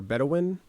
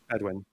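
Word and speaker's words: Bedouin: But then the bed, how do you pronounce it? Bedwin or bedawin. Bedwin. Yeah. Bedwin. Both is fine.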